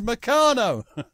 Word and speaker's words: Meccano: I mean, he may be a genius, but how do you pronounce Meccano? I pronounce Meccano. Meccano. Oh, and I remember thinking, he doesn't know how to pronounce Meccano. It's Meccano. So there you go.